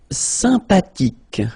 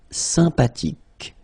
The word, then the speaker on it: sympathique: Sympathique. Remember the H is not pronounced. Sympathique.